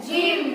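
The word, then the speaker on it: gym: क्या बोला जाता है जिम जिम की स्पेलिंग जी वाई ए क्योंकि जी के जस्ट बाद वाई आ रहा है इसलिए जी को हम क्या पढ़ेंगे जा जी हो गया समझ में आ रहा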